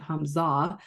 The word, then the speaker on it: Humza: It doesn't rhyme very well, but you would have to pronounce it Hamza.